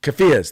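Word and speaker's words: keffiyeh: three were wearing uh I how do you pronounce that Mike the the the scarves that they wear the the the the cafas cafas there you go uh the black and white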